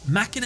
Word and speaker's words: Machina: While over pronunciation is fine, machina is the correct way to say it. This is because the word machina comes from the Latin word for machine, which you've probably heard